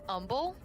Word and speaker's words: Humble: Humble Texas yeah and I think it's pronounced humble what the the point of the age puffy it's pronounced humble why is why is there an age puffy since when is there a silent h you give me one